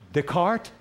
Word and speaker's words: Descartes: So here's the first one, is a philosopher named Descartes.